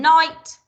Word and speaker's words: knight: go so i've done night which is silent k i've done not which is a silent k now you might want